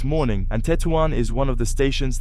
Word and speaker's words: Tetouan: By the way, we say Tettoan. I asked some Moroccans and it's not pronounced Tuwan. It's Tettoan.